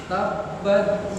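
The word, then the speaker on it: تبّت: Tabbat yada abi lahabin wa tabb. Iya. Wa tabb. Waktu mengucapkan tabbat tak ada hamzah sedikit ya. Keluar sedikit. Tabbat. Sedikit tapi jangan keluar lagi.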